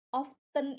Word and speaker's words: often: Teman-teman kalau notice, often ini cara pronunciation-nya itu adalah T-nya itu silent, T-nya itu nggak diucapkan.